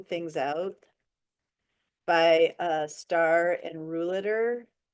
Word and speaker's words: Ruhleder: There's actually a wonderful book called Sorting Things Out by Starr and Rouliter. Rouliter is spelled Ruhleder, I think.